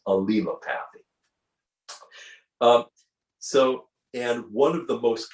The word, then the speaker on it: allelopathy: It's that word that looks like allelopathy, but it's not. It has an extra couple L's in there. It's allelopathy, is how you pronounce it, is the correct way to pronounce it. By the way, if you've seen that word, the correct pronunciation is allelopathy.